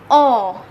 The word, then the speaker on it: on: become o n and the pronunciation will be o in french and it is used